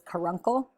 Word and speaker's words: caruncle: it's just funny like it's kind of spelled like car uncle but it's karuncle and so that's just